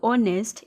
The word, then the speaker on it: honest: H is silent here. So the words like honest is starting with H, but the sound is of vowel and the word H is silent.